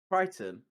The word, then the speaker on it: Crichton: To remember how to say his name, it's the android from Red Dwarf, just spelled differently. Crichton? Yeah. It's got a ch in it.